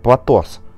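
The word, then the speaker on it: πλάτος: широта является 4 114 она же произносится как platos что же означает слово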